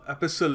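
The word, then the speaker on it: epistle: है एस्टल का तो एपिसल actually एस्ट T silent एपिसल तो इसका क्या होगा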